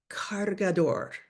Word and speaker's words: cargador: My pack has already been packed since last night, but I want to make sure to grab it sounds a little bit like charger. Cargador. Cargar, to charge.